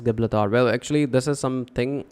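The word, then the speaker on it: Gibraltar: crossing the Mediterranean Sea was named as jabula Tariq after him and is now pronounced as gablathar well actually this is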